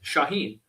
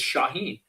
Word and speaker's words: Shauhin: And about a year before the filming, I changed that nickname, uh, back to my name that was given at birth, Shaheen.